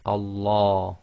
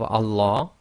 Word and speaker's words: Allah: pronounced the first one if the word before the word name of Allah it has a Cas sound I the last sound before the name of Allah is going to be a casra then we're going to pronounce the Lamb of Allah in a light fashion I so that's light